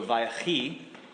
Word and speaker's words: Vayechi: So the Vi part, the V sound at the beginning, is kind of like the Hebrew's version of the word and. So Vayechi means and he lived.